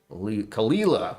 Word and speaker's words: Caol Ila: Kalila.